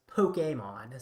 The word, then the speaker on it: Pokémon: Or I guess technically it's pronounced Pokemon, so Pokemon.